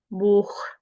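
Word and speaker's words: Buch: हैं ए ओ यू इनके बाद अगर सेहा आएगा तो इसकी साउंड जैसे उर्दू में ख होता है उस तरह प्रोनाउंस होगी। आ ओ उ की साउंड के साथ से ह आ जाएगा। द साउंड विल बी ह फॉर एग्जांपल बोख बोख बोख मींस बुक दोख दोख मींस बट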